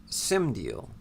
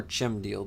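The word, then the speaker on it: Cymdiel: as a angel named simdeal c-y-m-d-i-e-l or chem deal depending on how you want to pronounce it because you know how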